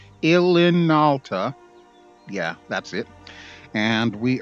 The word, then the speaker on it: Ilinalta: I always have trouble pronouncing that name. Ilinalta.